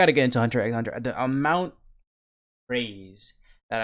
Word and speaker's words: Hunter x Hunter: I swear me, unless the X is silent.